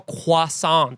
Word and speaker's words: croissant: They don't go croissant. Yeah, you go, croissant. No, they say it like a baby. Croissant. Croissant. They don't pronounce the T.